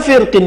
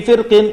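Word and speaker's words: فِرْقٍ: Wal khulfu fi firqin li kasrin yujadu. Ada di antara ulama yang membacanya dengan menebalkan huruf ra, firqin. Ada pula ulama yang lain yang membacanya dengan menipiskan, yaitu firqin.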